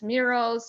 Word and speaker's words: Mural: digital canvas sometimes it's murals sometimes it's Miro so the first one was mu air mu R al and the second one was Mir o - competitors that have completely similarly pronounced name I know sometimes I